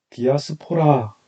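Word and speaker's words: diaspora: 단어를 우리가 다시 살펴보면 디아스포라 라고 발음을 합니다 디안 행적 2 하고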